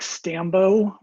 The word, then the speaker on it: Stambaugh: so a brief introduction my name is stambo rhymes with rambo i graduated uh smu